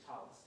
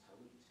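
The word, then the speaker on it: tallit: That is our tradition to say talis, just like Shabbos. But the Sephardic pronunciation is talit I see.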